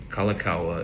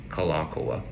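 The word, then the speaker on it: Kalākaua: Kalakawa is how you'll hear it pronounced. It's actually Kalakoa.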